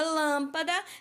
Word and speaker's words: lâmpada: por exemplo lâmpada então quando eu falo a palavra lâmpada eu pronuncio a sílaba Lan com mais tonicidade com mais força não vale repetir o